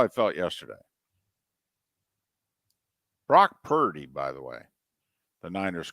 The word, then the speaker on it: Purdy: we got Brock Purdy p-u-r-d-y by the way pronounce it accordingly you're giving Brock Purdy